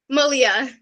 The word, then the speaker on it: Malia: Malia. Malia. There you go. Malia.